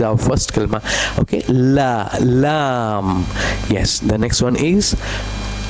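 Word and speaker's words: لام: L sound. Lion. Lam. What is this one? Lam. Well done. Very good. Lam. La la lam like la ilaha illallahu Muhammadur Rasulullah.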